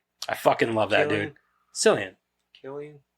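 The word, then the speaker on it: Cillian: about it that it was like it was silan Murphy no um hold on he's going to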